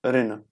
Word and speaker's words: Rin: by this Rina Reina basically it's Rin you should pronounce it as Ren pin means the ancestors